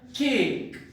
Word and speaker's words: cake: So now for example cake, there are 2 vowel a, e, so there is one syllable. Cake, in the word cake there is one syllable. E is silent. It will be ignored.